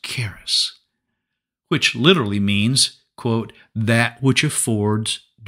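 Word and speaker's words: χάρις: For you see, the Greek word for grace is pronounced charis, which literally means, quote, that which affords joy, pleasure, delight, goodwill, loving kindness, favor, merciful kindness.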